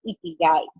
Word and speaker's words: Ikigai: Con él estaremos hablando en el día de hoy sobre el método Ikigai. ¿Lo dije bien? ¿Lo pronuncié bien?